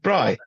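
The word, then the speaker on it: braai: day that we call Bri day word Bri how do you WR spell it b b b r a i wait wait b r a i i yeah as in Bri wow that's it that's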